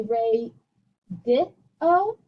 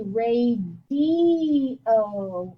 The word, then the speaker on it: radio: re di o and i don't say ray di o i say ray d o in that case the i sounds like an e pat e o pat